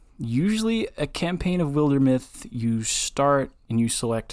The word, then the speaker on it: Wildermyth: game like that is wildermyth have I told you about that game mm- it's spelled Wilder and then myth like mythology Wilder myth okay it is a